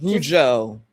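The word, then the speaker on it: Rougeau: Is it Rugo family? I've always seen it, but I've never heard how it's pronounced. I bet you it's all right. Rujo.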